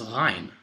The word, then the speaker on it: غ: That storm cloud here is a ghaima, and that letter is ghain, like an ain with a dot. The ghain is pronounced sort of like a French gha sound or a gargling noise.